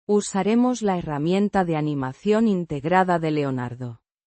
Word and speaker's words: herramienta: Herramienta. Herramienta. Means, tool, or instrument. Pronounced. Er-rah-mee-en-tah. With the stress on the second syllable.